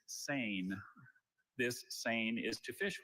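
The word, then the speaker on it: seine: This word has a homonym. The word is sane. This sane is to fish with or catch fish with a large net that hangs vertically in the water. Sane.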